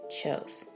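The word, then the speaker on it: Kjos: company is Neil, N-E-I-L-A, Chose Music Company. Chose is spelled K-J-O-S.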